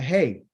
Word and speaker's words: hey: The first letter that is being used right here is called a hey. Okay. It's pronounced a ha, but the name of it is called hey.